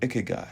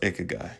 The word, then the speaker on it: ikigai: The Japanese concept of ikagai or ikagai, also our brand name. Either way you say it is fine, but it's pronounced ikagai tells us that purpose lies at the intersection